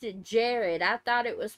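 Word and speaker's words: Jarad: Jared didn't you P of shit Jared he pronounced it Jared I thought it was pronounced Gerard I apologize if I mispronounced it but he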